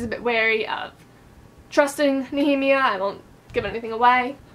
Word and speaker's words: Nehemia: pronounced because I checked it up on the pronunciation guide. Let me double check that. No, that's a heme. So Nehemia, and then Yetgar, like Garson, so Yetgar.